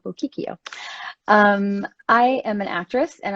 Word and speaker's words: Bocchicchio: Strange name, so I know a lot of people don't know how to pronounce it, but that's how you pronounce it, Bocchicchio.